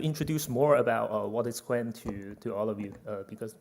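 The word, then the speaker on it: Qwen: So why it is called Quen?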